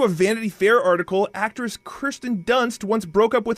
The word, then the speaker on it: Kirsten: I don't know who Kristen Dunst is, but Kirsten Dunst.